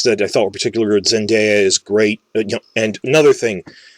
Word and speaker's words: Zendaya: through the spider-man movies i thought her name was zendaya because i've heard people saying it that way on tv and they were wrong and i looked up it's pronounced zendaya so sorry about that